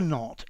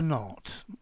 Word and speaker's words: knot: K get hitched absolutely it's pronounced like not as in the negative to tie the knot absolutely a mean singular just tie the knot okay so all this